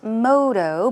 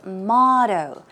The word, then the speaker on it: motto: one is that's right not modo but its motto okay let's take a look it's motto motto motto motto and synonyms are